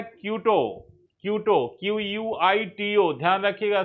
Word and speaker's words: Quito: Ecuador की capital है क्यूटो। क्यूटो QUITO, ध्यान रखिएगा स्पेलिंग, क्यूटो QUITO।